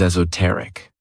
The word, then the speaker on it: esoteric: The next word, which is another one of my favorite adjectives, is esoteric. This word has 4 syllables, and the stress is on that third syllable.